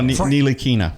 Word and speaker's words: Ntilikina: I can't pronounce this guy's last name. The guy from France. Oh, Ntilikina.